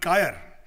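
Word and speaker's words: കയർ: Coir is a British mispronunciation of the Malayalam word kayar, but I suppose we are stuck with it.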